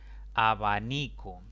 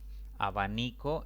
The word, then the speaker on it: abanico: grave sin tilde abanico abanico es una palabra de tres sílabas perdón de cuatro sílabas la mayor intensidad recae sobre la penúltima sílaba contando de izquierda a derecha pero como termina en vocal esta palabra no debo a tildarla manzana manzana es una